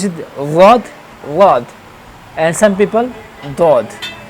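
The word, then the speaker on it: ض: So then this will be pronounced like wad, wad. It has special sound, wad, wad, wad.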